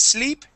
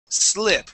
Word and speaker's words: slip: So instead of saying deposit slip, it's deposit slip with an I sound.